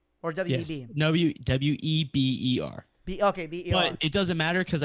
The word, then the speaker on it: Weber: Yes, but if you actually pronounced it correctly, the way it's spelled, it'd be Weber. Yeah. So is it Weber or Weber? No, it's actually Weber.